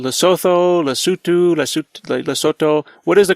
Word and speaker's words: Lesotho: the indigenous people they they call it lutu but uh it is spelled l e s o t h o so most of us call it loto because of the way it is spelled but for the Basu it is lutu the land of the